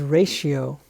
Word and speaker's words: ratio: six this word is ratio ratio r a t i o r a t i o this combination here the t i o makes this t sound like an s h in english and a weird weird